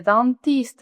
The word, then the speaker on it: dentiste: Oui, il est dentiste. S-I-T no se pronuncia. La E tampoco, dentiste.